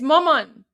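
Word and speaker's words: مامان: It's maman.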